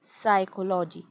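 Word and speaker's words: psychology: Greek Latin भाषेतील असतात पी नंतर एस आलं किंवा पी नंतर एन आलं तर शक्यतो पी हे अक्षर त्या स्पेलिंग मध्ये सायलेंट होऊन जातं आता सुरुवातीलाच हे अक्षर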